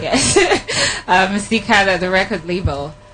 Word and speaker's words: Teekay: Am I pronouncing it? Yeah, you're right. Yes, Teekay, the record label.